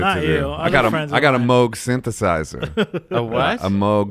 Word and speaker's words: Moog: Well, it says Moog, or you think it says Moog, but it actually is pronounced Moog.